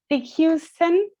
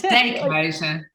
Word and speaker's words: Dijkhuizen: Houston, did I say it right? Yeah, it's Dijkhuizen. Yeah, houses on dikes.